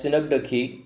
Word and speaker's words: synecdoche: We have to pronounce this as synecdoche.